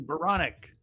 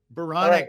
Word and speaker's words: Baranek: hard Dave close baronic Veronica excuse me baronic rhymes with bionic and that's how I